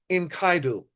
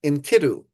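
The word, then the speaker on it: Enkidu: After defeating the bull in Kaidu and you may sometimes hear it by the way pronounced inku. Your take your pick. Uh I I go with inkaidu.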